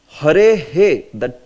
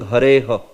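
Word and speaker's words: हरेः: But you hare he, that should come in the end. Hare he. Say hare he. Yeah. Instead of saying hare ha. No, it's not hare ha.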